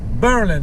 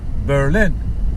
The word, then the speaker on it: Berlin: anti-german sentiment they uh folks started to put the emphasis on the first syllable call it berlin berlin wisconsin instead of berlin wisconsin uh wisconsin so it's not berlin berlin it's berlin but like a vernon so so uh i